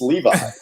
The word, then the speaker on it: Levi: ass in america like it's not levy it's levi but everybody says levy because i think they just think well they could possibly be levi so at some point